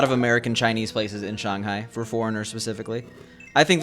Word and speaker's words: Shanghai: It's pronounced Shanghai because so Shang means above and then Hai means sea because it's a sea-based city. So the correct pronunciation is Shanghai, but no one says that.